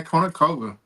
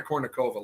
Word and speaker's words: Kournikova: Oh, Anna Konikova. Yep. That's for other sports. Let me pronounce it for you.